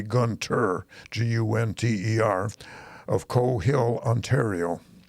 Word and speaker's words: Gunther: Or it's spelled Gunther, but it should be Gunter, Gunter, of Coe Hill, Ontario.